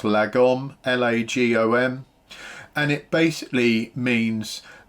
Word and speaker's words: lagom: The Swedes have this thing, I think it's pronounced lagom, L-A-G-O-M.